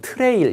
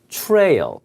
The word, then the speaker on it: trail: 예, L이 하나인데 자 발음이 여러분 trail 이렇게 하시면 안 돼요. trail 예, 발음이 소리값이 틀리면 못 알아들어요. 다시 한번 발음이 trail 이렇게 제가 이 L 앞에 모음이 써가 살짝 들어요.